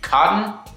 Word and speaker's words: KOTN: is going to be cotton I believe look I know people would be pronouncing things different so it may be pronounced different but k-o-t-n sounds like cotton to me but cotton Brandon reached